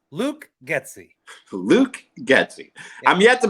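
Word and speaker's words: Getsy: who did you say Luke gy no it's pronounced Luke gy Luke gy I'm yet to be impressed by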